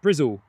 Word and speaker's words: Bristol: Lizzie saying Cardiff as the crow flies, but driving is easier and sometimes quicker to Brizzle. That's how the locals say it.